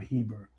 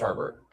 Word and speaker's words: Herbert: I I think they can they can slow down Herbert or Hebert. Which is it? It's Herbert.